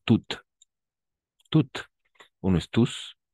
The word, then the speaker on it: toutes: Et au féminin, toutes, comme bien prononcer Déborah, toutes.